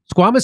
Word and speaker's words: squamous: Squamous cell? Mm-hmm. Squamous cell more serious than basal cell.